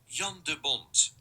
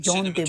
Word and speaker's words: Jan de Bont: And this time we will see how to pronounce in a regular Dutch accent, Jan de Bont, Dutch Jean de Bont.